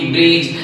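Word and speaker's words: bridge: जज इसके बाद बी आर आई डी जी ब्रिज ई डी जी एच ये सारे जितने भी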